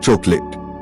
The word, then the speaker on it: chocolate: Chocolate. The last 8 is not clearly spoken. It sounds like chocolate.